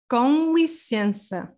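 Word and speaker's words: com licença: kong license okay we have there also kind of a nasal sound in lisiens you see this n so n also if it's like in the middle uh can also become ver nasal uh so yeah i'm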